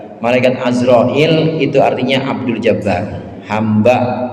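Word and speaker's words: عزرائيل: lagi tinggal sedikit lagi bacanya pakai Ain bukan Izrail kalau udah di Indonesia Israil Tapi aslinya azrail itu artinya Abdul Jabbar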